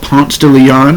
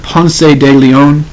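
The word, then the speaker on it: Ponce de León: street here in Atlanta called Pon Leon it is named after him but they say it wrong it is Juan Pon de Leon um he is from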